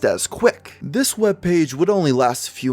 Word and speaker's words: CWC: CWC are the initials of Christian's full name, which he is unusually proud of due to its ability to be pronounced as Quick.